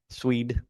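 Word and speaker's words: Sweed: Did you say Sweet Mop? Swede. S we e d.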